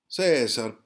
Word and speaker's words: Cesar: He's from Argentina, so Cesar, that's how they would pronounce it in Argentinian.